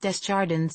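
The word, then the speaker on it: Desjardins: He pronounced Desardens the English way, the S's intact.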